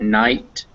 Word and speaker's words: knight: there do through thorough gh is most commonly not pronounced in english in words like knight and height they have ghs in them but you don't hear them uh they're written this